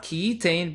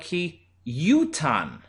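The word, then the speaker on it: כי יותן: Vikarinan, however, when we read in the Torah, we pronounce it not ki yitain, but ki yutan.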